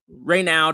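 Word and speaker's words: Raynaud: Reynaud is how I say it.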